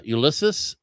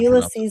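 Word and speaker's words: Ulisses: Elder uh Ulysus Sorz. Is that how you pronounce his first name? I have a hard time. Ulyses Suarez.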